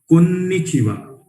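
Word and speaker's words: こんにちは: Konnichiwa. Pronunciation is konnichiwa.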